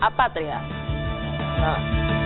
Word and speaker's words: apátridas: No, apátridas. Es drújula. Lleva la sílaba en la antepenúltima sílaba.